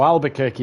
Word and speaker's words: Albuquerque: to the league, Mar Albuquerque. And Mike guaranteed me that's how you say that one. So Albuquerque is how you pronounce it, Dan.